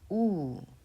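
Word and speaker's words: ㅜ: It is pronounced oo.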